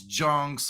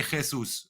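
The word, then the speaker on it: Jesús: They say don't pronounce Junks or Yunks, just say Jesus.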